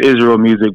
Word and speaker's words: Israel Musiq: used to be like it's pronounced Israel music because of Israel music